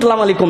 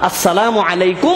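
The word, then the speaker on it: السلام عليكم: আমাদের সালামের ক্ষেত্রেও আমরা অনেক সময় ভুল স্পেলিং এ আমরা মানুষকে সালাম দেই। আসসালামু আলাইকুম শুনছেন না আমরা স্টাইলের সালাম, এই আসসালামু আলাইকুম সালাম আলাইকুম নাই আমাদের সালাম আসসালামু আলাইকুম ওয়া রাহমাতুল্লাহ। সুন্দর করে পরিষ্কার পরিচ্ছন্ন ভাবে সুন্দর উচ্চারণ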